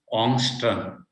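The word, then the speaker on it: Ångström: scientist his name is ongstrom his name is angstrom not angstrom uh known the people i mean the the the in sweden they call it on that is the correct uh pronunciation construm right angstrom means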